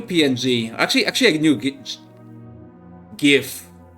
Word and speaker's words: GIF: actually actually a new GIF. Let's let's just say it is pronounced gif.